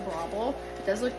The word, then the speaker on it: Breville: this is an Australian brand so it's actually pronounced brable it does look like Braille or bravil however you would say it um but it's actually bravel um it's an Australian company and they know